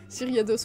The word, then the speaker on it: Gyarados: Gyarados. Gyriados, on dit normalement, oui. Prononcé. Mais ça s'écrit avec un G, Y.